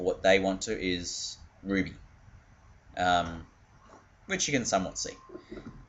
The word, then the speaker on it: RWBY: How you actually pronounce RWBY for what they want to is Ruby, which you can somewhat see.